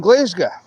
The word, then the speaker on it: Glasgow: Um, so for people who do not know, Edinburgh, Glasgow, we say Edinburgh like normal people and Glazga to coincide with the the other language of uh, Glasgow.